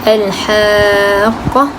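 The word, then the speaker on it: الحاقة: Jadi cara bacaannya adalah dengan memasukkan kerana adanya idgham, iaitu Al-Haqqah ataupun Dabbah.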